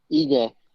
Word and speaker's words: Ige: So Kevin Aguilar, if Kevin Aguilar doesn't accept that fight, when are we seeing Dan Ige? How do you pronounce it again? Give me one more time. Ige.